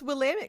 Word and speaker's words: Willamette: Oh my gosh, you pronounced Willamette correctly.